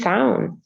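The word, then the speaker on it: Samhain: apparently the original uh the original irish um pronunciation is sound definitely we don't say it in america so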